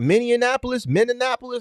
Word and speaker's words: Minneapolis: Is that the way you put Minneapolis? How you pronounce it?